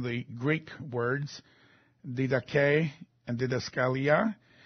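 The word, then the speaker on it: διδασκαλία: Doctrine, of course, comes from the Greek words didache and didaskalia. Didaskalia is how you say it.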